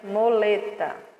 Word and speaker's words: muleta: Mu com lé e o tá fica muleta. Se escreve com mu, mas se pronuncia moleta.